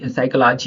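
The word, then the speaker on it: psychology: अभी एस से पहले एस से पहले प है तो वो कैसे साइलेंट हो गया यहां पे साइक साइकोलॉजी हो गया साइकोलॉजी साइकोलॉजी यहां पर हो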